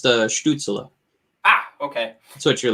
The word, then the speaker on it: Stützle: It's actually pronounced Stützle.